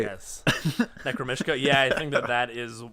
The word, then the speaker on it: Necromishka: We might as well break up this noise rock and go with the Space Between Us by Necromishka. Yes. Did I say it right? Yes. Necromishka.